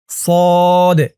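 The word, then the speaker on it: صاد: scene তাহলে সদ scene আপনারা অনেকে কিন্তু এমনটা বলেন যে সোয়াদ সোয়াদ উচ্চারণ করলে কিন্তু উচ্চারণটা সঠিক হয় না বলতে হবে সদ সদ সিন তারপরটা ধরুন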